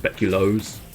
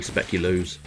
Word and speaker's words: speculoos: Because I think technically it's meant to be pronounced speculoos, but, I mean, let's be honest, it's got loo in the end of the word, so for me it's always going to be speculoos.